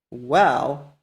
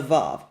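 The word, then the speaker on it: וָו: to the original pronunciation, and they distinguish between the wow and the soft bait by reading the soft bait as a v and the wow as a w. So just from that, we can know it is a wow, not a vav.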